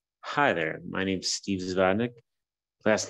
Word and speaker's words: Zavodnyik: Hi there, my name's Steve Zavonik. Last name is spelled Z as in Zulu, A as in